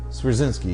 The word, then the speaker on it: Swierczynski: Yes, I cannot pronounce his name. Swizerinsky? Swierczynski, yeah.